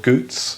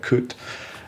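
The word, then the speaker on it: gut: things the ritual performances are called goots but sometimes they get pronounced as uh cut like coot um and they involve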